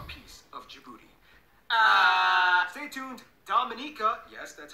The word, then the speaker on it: Dominica: Dominica, yes, that's how you pronounce it, is coming up next.